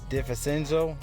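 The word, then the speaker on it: DiVincenzo: look into will be dante di fasenzo that's how you pronounce his last name but still great play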